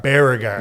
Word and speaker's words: Baragar: James on 104.3 yeah but it's baragar baragar yeah you got it cool I wasn't pronouncing it right it's okay it's it's again